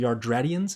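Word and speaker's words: Yardratians: instant transmission from the from the yardradians is how you say that from from yardrat um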